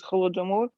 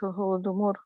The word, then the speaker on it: Holodomor: But this Holodomor. In Russian, you have to change first letter from H to G, like Golodomor. Yes. Yeah, right. And Ukrainian is Holodomor. Yes. And you pronounce like it's softer.